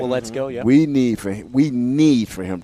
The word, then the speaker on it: Waletzko: And we need for Waletzko, is I'm pronouncing that right? Waletzko, yeah.